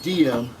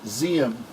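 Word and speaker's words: Diệm: guy names iam I know it looks like diem I know it looks like diem but it's z 'm is how it's pronounced according this treaty elections are supposed to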